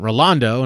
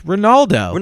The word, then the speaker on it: Ronaldo: it up did i you said ronaldo and then went rolando and i was like wait what is it it's ronaldo no though but you